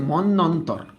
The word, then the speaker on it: মন্বন্তর: 50-এর মনন্তর, 50-এর মনন্তর, মানে উচ্চারণটা হচ্ছে মন্বন্তর, হ্যাঁ দুর্ভিক্ষ নিয়ে তিনি লিখছিল এটা।